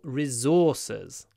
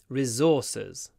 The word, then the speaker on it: resources: gas are important natural resources resour resources or resources uh both pronunciations are possible resources and resources some people say resources some people say resources